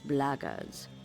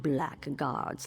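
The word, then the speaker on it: blackguards: If you're another one of those blackards, and that's the way to pronounce it, not black guards like that thug insisted it was, then my answer is the same.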